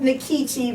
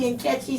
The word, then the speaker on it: Nkechi: I pronounce it Nkechi because you know our tongues are colonized. If I were in Nigeria, it would be Nkechi.